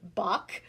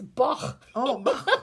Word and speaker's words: Bach: i'm sorry i'm laughing because you're saying bach and i i studied german i'm like no it's bach okay say it properly you start okay flower